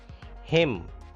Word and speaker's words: hymn: Hymn. N is silent here.